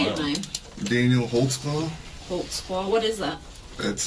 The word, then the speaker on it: Holtzclaw: there because I don't even know how to spell it how do you say it man Daniel holtzclaw holtzclaw what is that that's a German can